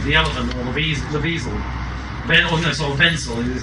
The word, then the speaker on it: Wensley: Wenzel is how it pronounces his name, who was a probationer in Whitechapel at the time of the Ripper murders.